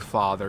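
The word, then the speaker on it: fadar: So that's why we have, for example, Old Norse father, and actually Gothic father, even though it's spelled with a D, it's actually pronounced as an eth.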